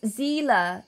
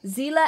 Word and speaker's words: Zela: to the moon yes my name is pronounced zela zela evergreen ah i see i